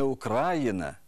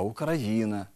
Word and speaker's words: Україна: у яких найбільше помиляєтесь не український а український не Україна а Україна не 11 14 а